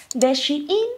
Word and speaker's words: Shein: comunicación tengo comunicación con Shin entonces a mí la Anita me dijo recuerda de pronunciar bien la marca sh in y yo okay okay